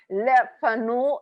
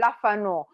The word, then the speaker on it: Le Fanu: know french i'm sorry but le fanu it's the pronunciation i changed a little bit and say lafano because i want to to